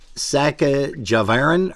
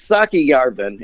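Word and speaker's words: Säkkijärven: And it is, I had mentioned that it is Saka Javarin or something like that. You're close. It's Saki Yarvin, and I wasn't close at all, Chris.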